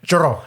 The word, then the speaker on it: churro: I can't roll my R's. Yeah. A churro. Can you roll your R's? Can you say it right? Yeah. I mean, churro. Yeah, there you go.